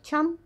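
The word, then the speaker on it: ちゃん: Тян, произносится скорее как тян, уменьшительно ласкательный суффикс к именам детей, кличкам животных.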